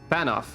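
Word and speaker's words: Fanow: Fanoff, okay. The W is pronounced like an F in this case.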